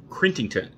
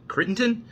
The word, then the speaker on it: Crittenton: because he was named clinton crintington crittenton i'm mispronouncing that crittenton you know cheney um